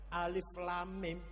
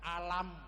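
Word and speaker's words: الم: Alif lam mim kita baca alam. Alif lam ro dibaca alar. Alif lam mim shad dibaca almas. Eh bacanya jangan alar, jangan alam, tapi bacanya alif lam. Mim itu bacaan namanya mad lazim harfi mutsaqqol.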